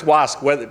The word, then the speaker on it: WASC: But it's pronounced WASC, regardless of whether it's WASC or it's WSCUC.